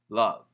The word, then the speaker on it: love: might sound similar, but the typical pronunciation in America is lov V E love. Love. And that is a short u sound.